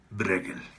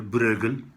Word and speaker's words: Bruegel: Este señor, Peter Bruegel, ¿sí? Es muy difícil pronunciarlo bien, Bruegel, pero digamos que castellanicémoslo y quedémonos en señor Bruegel, ¿sí?